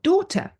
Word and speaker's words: daughter: Or daughter. I have 2 daughters, but I don't pronounce the GH.